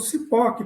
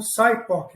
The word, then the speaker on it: SIPOC: Eu estou falando CIPOC porque eu posso te garantir que a maior parte das pessoas no Brasil usa o termo abrasileirado.